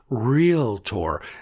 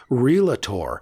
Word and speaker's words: realtor: There are only 2 syllables in the word realtor, not 3.